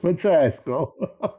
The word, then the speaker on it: Francesco: So my real name is Francesco. Anyway, Francesco. Well, I'll try to use all of them. Francesco. Is that the good pronunciation? Yes, Francesco.